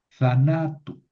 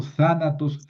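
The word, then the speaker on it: θανάτου: Eh, sanatos, zanatu, zanatu. ¿Por qué no digo zanatos? Zanatu, porque es una proparoxítona. Y como en el genitivo le añado una vocal larga, tengo que mover el acento.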